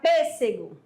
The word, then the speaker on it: pêssego: Porque eu tenho aí matemática e aí eu tenho outras também, que você pode ter várias sílabas, não tem problema, tá? Exatamente. Aí você chega, aí tem a palavra pêssego.